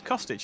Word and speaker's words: Costage: for costage there it's costage is not caustic isn't it I've been saying his